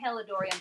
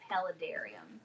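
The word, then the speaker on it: paludarium: i' I'm embarrassing myself I think I've been saying pelorian but it's palarum which is a is a cross between a terrarium and an aquarium so it's like about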